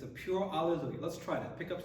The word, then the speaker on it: alleluia: So biggest thing here as we finish this piece, we're building up to the climax, but make sure alle, not lay, alleluia, and lu is the accented syllable, and alleluia, so we always want to be cognizant of that as we're singing.